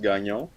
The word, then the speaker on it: Gagnon: Yeah, the GN in French is pronounced like the Spanish N.